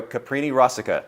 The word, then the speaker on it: Caprini-Rosica: Caprini-Rosica.